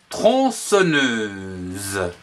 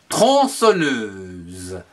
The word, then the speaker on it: tronçonneuse: La tronçonneuse, T-R-O-N, tron, C-C-D-I-L-O-N, son, N-E-U, ne, S-E-Z, que l'on prononce tronçonneuse.